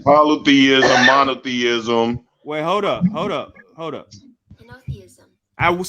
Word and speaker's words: Henotheism: Henotheism.